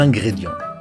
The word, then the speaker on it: ingrédients: Un, IN c'est un, c'est pas in, c'est un comme 1, 2, 3. Ingrédient. On ne prononce pas le T, on ne prononce pas le S, on prononce en. Ingrédients.